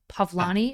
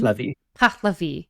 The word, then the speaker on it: Pahlavi: Reza Shah started the whole Pavlani. Is that how you say it? He started the regime. Pahlavi.